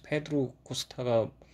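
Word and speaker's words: Pedro Costa: 어 뼈의 감독은 페드로 코스타라는 감독이 연출을 했고 프로토칼 출신이고 어 페드로보다는 그 끝에 5 발음이 거의 뭐 안 난다고 해서 페드로 코스타가 원래는 뭐 맞는 발음이라고 하지만 우리는 영어식이기 때문에 페드로코스타로 어 통일하도록 하고 어이 감독은음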